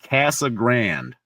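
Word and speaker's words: Casa Grande: We got a town called Cassa Grand. It's not Grande. That's how it's supposed to be pronounced, but they call it Cassag Grand.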